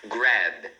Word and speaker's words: grab: Então, você deve falar até o B, né? Então, e você pronuncia assim, ó, grab. Grab. Tá vendo? A gente fecha aqui os lábios para fazer o som do B, sem colocar esse I que a gente normalmente faz em português, porque a gente sente